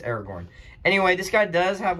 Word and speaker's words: Aragorn: It's Aragorn, not Aragon. Don't listen to me. Don't listen to me. I had it wrong the whole video. Aragon. It's one of the 2. I believe it's Aragorn.